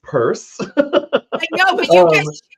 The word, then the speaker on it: Pierce: yeah and it's the the family pronounces it purse and it's it's a